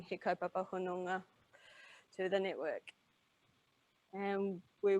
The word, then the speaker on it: Hononga: The thing that I think is hardest in here is that you've got an N and you've got an NG consonant blend. And so you've got to get the N pronounced as an N and the NG consonant blend pronounced as an NG. So the 3 syllables are ho, no, ngā.